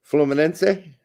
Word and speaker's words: Fluminense: Well, I just didn't know it had an A sound at the end. Sure. I knew the rest of it.